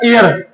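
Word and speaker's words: heir: अब यहां पे ए साइलेंट है तो बोलो इसमें क्या लगेगा? एयर।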